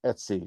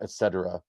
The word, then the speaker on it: etc: you have slash Etsy it's pronounced Etsy not Etc that this is where